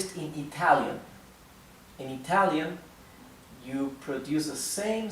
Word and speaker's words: yo: you pronounce that why it's like if you were unsticking the back of your tongue from your upper plate go okay go I